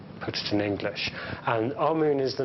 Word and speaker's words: Amun: important deities was amen now amen is the pronunciation that the Hebrews give it and some Scholars agree to use that pronunciation aroon is the pronunciation given to it by one of the old European scholars plutar in the language of K the word for hidden is IM or Amun is the way that we U put it in